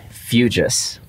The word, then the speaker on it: Fujas: complicated backstory to this we are going with fuges that is the the perfect pronunciation it's impeccable so everyone everyone out there